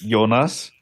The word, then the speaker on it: Jonas: I know you don't in German it's yonas and a lot of people like to do that as like a oh I'm trying to be nice but if I say yonas it's really hard for me to not